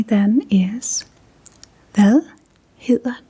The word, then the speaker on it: hedder: And what you would say then is, "Hvad hedder du?"